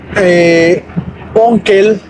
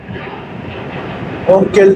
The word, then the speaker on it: Onkel: Onkel es el tío. Mein onkel, mi tío. Y la tía es ditante. Onkel se escribe O-N-K-E-L.